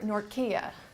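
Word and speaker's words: Nortje: So if we could just kind of have a look at a poem for Arthur Nortkia, actually, that's Afrikaans. That's apparently the Afrikaans pronunciation.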